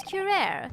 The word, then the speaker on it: curare: A toxin known as curare, Your Excellency. Is that how it's pronounced?